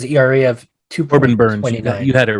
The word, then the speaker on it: Burnes: Yeah, and just to clarify, Corbin, all right, it's not Burns. I think it's Burness. He has an ERA of 2.29. Corbin Burns.